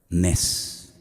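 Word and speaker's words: נס: Nes.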